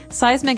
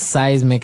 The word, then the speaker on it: seismic: Activity is movement, and so, seismic activity refers to earthquakes and volcanoes, things that are changing under the ground that will affect us. Okay. So, that's seismic activity.